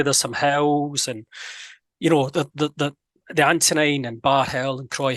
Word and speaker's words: Antonine: Antonine, yeah.